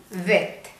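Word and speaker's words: ב: നടുക്ക് ഒരു ഡോട്ട് വന്നാൽ അത് ബെത്ത്, ഡോട്ട് ഇല്ലാതെ ഇങ്ങനെ എഴുതിയാൽ ഇത് വെത്ത്.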